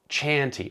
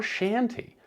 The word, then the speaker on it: Chanty: Chanty or Shanty, depending on the mood you're in. And I actually reached out to the developer to ask how you pronounce that and he said, "However you want."